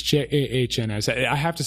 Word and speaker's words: Jahns: And that's Johns with an A. It's Jahns.